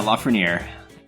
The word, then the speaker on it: Lafreniere: Hey, how do you pronounce your last name? Because you always used to go by David. So is it Lafreniere? Yeah, Lafreniere. Okay.